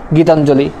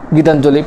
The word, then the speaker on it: গীতাঞ্জলি: পরবর্তী সূত্রতে যদি চলে যায় তা হচ্ছে পদের শেষে যদি তোমার অঞ্জলি থাকে, যেমন গীতাঞ্জলি, পতঞ্জলি, শ্রদ্ধাঞ্জলি। পদের বা শব্দের শেষে যদি তোমার অঞ্জলি থাকে তখন তার উচ্চারণটা তোমার রস্যিকারের মতো হবে, দীর্ঘিকারের মতো হবে না, যেমন গীতাঞ্জলি, পতঞ্জলি, একটু আগে যেটা পড়লাম আমরা।